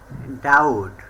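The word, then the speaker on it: doubt: letter D silent থাকবে ডাউট ডি ও ইউ বিটি ডাউট মানে সন্দেহ যদি কখনো বি এর পরে টি লেটারটি থাকে তাহলে বি লেটারটি সালে থাকবে সাটল এস ইউ বি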